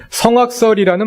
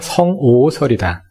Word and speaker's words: 성오설: 그래서 순자가 말하는 성악설도 악할 악자가 미워할 오자로 읽어야 된다. 말하자면 성악설이 아니라 성오설이다.